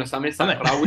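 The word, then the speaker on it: Osame Sahraoui: Sí, bueno, no, de hecho te iba a decir que lo has pronunciado muy bien, Osame Sahrawi.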